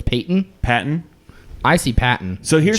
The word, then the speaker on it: Patton: Here's why I say it's Patton. Because one, it's spelled Patton. P-A-T-T-O-N. That's a gimme. Patton. A baton.